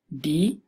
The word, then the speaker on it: di: it is structured you just put D D D I so it's pronounced D which has the meaning of a